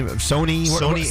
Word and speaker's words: Sonny Angel: at their website so bet it's pronounced Sony not Sunny Sony I'm on their